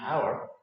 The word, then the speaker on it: hour: in the word our H here is silent so the O that